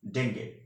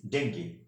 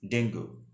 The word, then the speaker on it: dengue: word is dengue in american english the correct pronunciation of this word is dengue and in british english the correct pronunciation of this word is dengue but don't pronounce of this word is dengue okay this is not a correct pronunciation that's